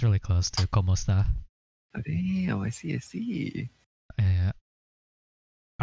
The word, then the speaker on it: kumusta: I don't know why it says kamusta, but it's pronounced kumusta.